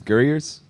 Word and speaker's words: Gurriers: yourself like you say this one uh it's gers uh it's Dublin slang for like Rascal or scallywag or something that like a bit of a Messer so uh yeah gers and um the name came from Mark the